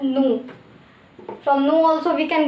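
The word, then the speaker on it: ぬ: It will be pronounced as nu.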